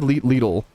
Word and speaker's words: Lidl: Is it Lidl or Little? I say Lidl. Lidl pronunciation. How to say Lidl like a local? This says Lidl. Lidl. Struggling with this word or name? Nope. Lidl. Lidl. It's Lidl. Let's practice together. It's literally Lidl. I don't know why the